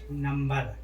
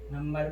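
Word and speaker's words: number: जैसे नंबर, नंबर में बी के पहले एम आया है, फिर भी यहाँ पर इसका उच्चारण हो रहा है क्योंकि ये अपवाद है।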